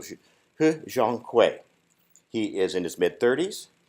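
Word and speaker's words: He Jiankui: I say that carefully because there are a lot of different pronunciations for his name, but I went to Chinese TV and listened in. So He Zhonghui.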